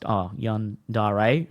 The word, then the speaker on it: yandere: Pronounced Yandere. Okay, I got that wrong.